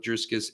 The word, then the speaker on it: Dricus: He's got to Dricus, by the way. Huh? Dricus. I said, there's no S in the middle of his name. Dricus. Don't you pronounce it like a soft C?